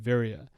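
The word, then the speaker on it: viriya: is called Viria this is a poly word it's spelled v-i-r-i-y-a Viria so you spend more time talking about very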